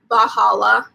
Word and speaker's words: Valhalla: gonna talk about the Valhalla murders I just started watching that and it is pronounced bahala that's how they say it in the thing so I'm actually kind